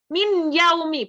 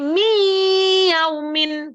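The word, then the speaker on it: مِنْ يَوْمٍ: terdengar gitu tidak terdengar Jadi bukan min yaumi bukan tapi Mi yaumin gitu Jadi dia itu itu tadi memasukkan tadi kemudian ada bahasa bighunah berarti dengan dengung jadi membacanya itu dengan dengung kalau secara ketukannya tiga ketukan Mi Gitu ya Ada dengungnya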